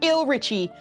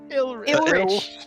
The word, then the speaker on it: Ilrich: How do you say it? Ilrich. Okay. Ilrich. It looks like Richie. And I was like, that can't be it.